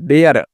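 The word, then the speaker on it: dare: लिए यहां पे र तो केयर है ना केयर हो गया आर ई साइलेंट होगा ठीक है ना ई साइलेंट हो जाएगा जैसे यहां पे देखिए ध्यान से आप लोग समझिएगा है ना यहां पे देखिए एम ए आर E mayor D ए आर ई डेयर एल ए वाई ई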